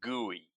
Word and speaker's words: GUI: we were going to bet on guey. Guey is spelled GUI and it stands for graphical user interface something like what Windows has or what the Mac has.